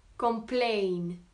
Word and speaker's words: complain: Tandis que donc, je disais que quand c'est un verbe, on accentue plutôt sur la deuxième syllabe. Donc, à savoir, par exemple, se plaindre, plaindre, complain.